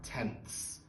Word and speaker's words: tenths: Notice the th sound at the end. To the left of ones, we have tens. To the right of our decimal point, we have tenths, then hundredths.